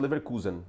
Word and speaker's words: Leverkusen: passado aí o Leverkusen, que a pronúncia é Leverkusen mesmo, tá?